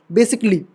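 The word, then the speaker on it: basically: करो जहां से भी देखना हो ये य साइलेंट रहता है बेसिकली स् स्टिकली ठीक है लॉजिकली फ्रेटिकली ठीक है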